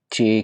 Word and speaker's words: 几: जे और आई के साथ लफ्ज है। लेकिन इसको प्रोनाउंस चे के साथ किया जाता है। चिड़िया वाला ची ची थर्ड टोन है इसलिए थोड़ा सा आवाज लहक के बोली जाती है।